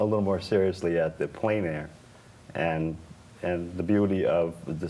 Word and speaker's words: plein air: And So the word is plein air. Am I pronouncing it correctly?